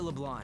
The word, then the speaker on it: LeBlanc: I really don't like how they pronounce We LeBlanc. went through all sorts of options on our way Like, here, why are they pronouncing it like the C is silent?